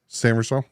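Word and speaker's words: Sainristil: Corner Mike Saint Ristel. Jason, I'm going to jump in here real quick. How do you say Mike's last name? Corner from Michigan? Samersville.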